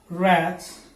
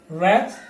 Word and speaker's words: wrath: but in this list letter w is absolutely silent wrong wrists wreck wrath right and wrestle okay